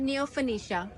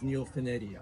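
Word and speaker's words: Neofinetia: So it's not neopenicia. Neopanetia. Yeah. I used to call it that when I found out the proper pronunciation is neopenedia.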